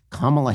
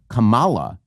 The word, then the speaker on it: Kamala: Because if you mispronounce her name, if you mispronounce Kamala Harris's name, if you say Kamala as opposed to Kamala, if you put the emphasis on the wrong syllable, that means you are a racist.